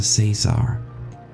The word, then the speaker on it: Caesar: It's Professor Caesar. It's like laser.